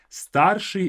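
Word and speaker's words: старший: enemy V is happiness notice this first I don't say I say as if it's spelled like this with the sh there sh stari is eldest or the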